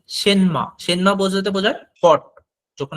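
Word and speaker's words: 什么: দেখেন এইখানে উচ্চারণটা আছে কিন্তু সেনমা, কিন্তু চাইনিজরা প্রফেশনাল হইতে যখন এটা উচ্চারণ করবে আপনাকে সেনমা এভাবে বলবে না, আপনাকে এত দ্রুত বলবে সেনমাটা বুঝতে পারবে না, ওরা বলে মনে হবে সেমা। ওরা কিন্তু এই এনটা অনেক সময় সাইলেন্ট করে দেয়, সেমা এভাবে বলে দেয়।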